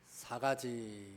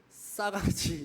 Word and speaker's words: 4가지: 설교의 제목을 우리가 알아야 할 4가지 이렇게 정했습니다. 네 가지라는 뜻이죠. 네. 근데 이게 세게 발음하면 안 돼요. 싸가지 이렇게 발음하지 마시고, 우리는 부드러운 사람들이잖아요.